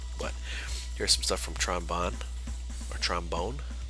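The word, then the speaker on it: Tron Bonne: here's some stuff from Tron bond or trombone I want to say proudly trombone that's how you pronounce it closer bots and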